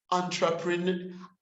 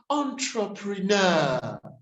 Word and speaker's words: entrepreneur: comfortable but it's comfortable it's built as entrepreneur entrepreneur but it's but it's pronounced as entrepreneur the other thing i